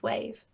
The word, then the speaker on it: wAVE: The W in wAVE is silent.